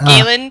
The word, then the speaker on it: Galen: uh yeah it's pronounced galen by the way galen at least that's how i always pronounce it if you want to pronounce it gallon that's fine with me but i pronounce it galen so just uh pay